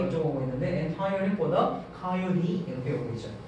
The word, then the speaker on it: coyote: The chase more difficult 또는 difficultly 어쩌고 보고 있는데 entirely 보다 coyote 이렇게 보고 있죠. 코요테라고 읽으면 쟤네들 모르더라고요. coyote라고 읽어요.